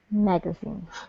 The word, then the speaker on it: magazine: Magazine, the first one. Right, on the first syllable.